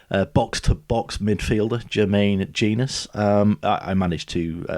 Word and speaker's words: Jenas: Forest and Newcastle uh box tobox midfielder Germaine genus um I managed to pronounce his surname wrong of course and called him jenus for most of the interview I think I